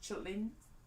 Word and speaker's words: chitterlings: So anyway, Wikipedia describes chitterlings as sometimes spelled or pronounced chitlins or chitlins, and are a culinary